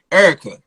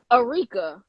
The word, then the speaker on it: Eureka: my name incorrectly right so my name is Eureka Eureka Eureka yes yes thank you